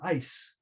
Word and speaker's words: ice: Eyes with the voice sound at the end has a longer vowel than ice, which has a voiceless consonant at the end. So the vowel is exactly the same, but it's longer in certain contexts.